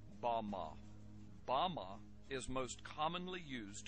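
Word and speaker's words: במה: which Satan fell is strong Hebrew word 116 pronounced Bama Bama is most commonly used to refer to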